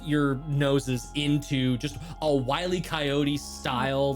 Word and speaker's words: Wile E. Coyote: To make it more of the pronunciation of this, it's Wile E. Coyote.